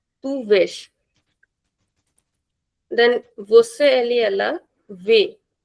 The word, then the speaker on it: vês: Then with tu it is vesh. Comes with accent. Tu vesh. Then você ele ela vê. Comes with accent.